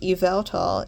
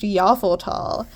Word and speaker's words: Yveltal: It's not pronounced Yveltal, it's pronounced Yveltal.